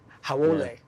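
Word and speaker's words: haole: But essentially, that's people, howlies are people that aren't from the island, right? Yeah, like foreigner. And like a slangy kind of, not nice of a way. So, howole. Yeah. That's the proper pronunciation.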